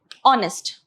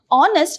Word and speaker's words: honest: Like for example, honest. Okay, honest, though it starts with a consonant, okay, this is silent, so the vowel sound only has to be considered. Okay, it's honest, not honest.